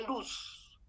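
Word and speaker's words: Looss: nombre de ciclo de luz se escribe l o o s luz no luz luz de luz sino los en realidad c se pronuncia luz qué fue quién lo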